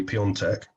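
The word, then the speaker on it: Piątek: think that if they play if they play peon tech and by the way i got my pronunciation spot on by the way if they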